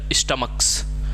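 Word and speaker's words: stomach: का मतलब क्या है सी का उच्चारण जब च ना होके क से होगा ठीक है क जैसे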